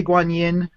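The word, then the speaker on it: Guanyin: um most people say Guan Yin Eric you were right in saying the Y is kind of silent so really it's pronounced a little bit more like rather than Yin um but Guin or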